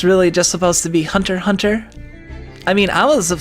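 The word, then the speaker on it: Hunter × Hunter: short is the the the japanese like to use x's as silent in words and they have their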